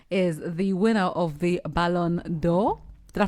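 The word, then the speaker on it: Ballon d'Or: Now, one that I clocked I saw this has been celebrated on social media is the winner of the Balonor. Did I pronounce it well?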